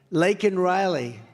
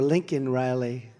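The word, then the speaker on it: Laken Riley: many innocent victims of the Biden migrant crime lak and Riley and you know uh Biden was unable to pronounce her name called called her Lincoln Riley and this was right after how terrible is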